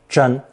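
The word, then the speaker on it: 贞: It's pronounced first tone, zhen, zhen.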